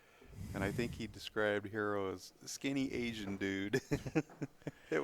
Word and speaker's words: Hiro: h i r o I think it's pronounced the same way as h e r o yeah hero hero yeah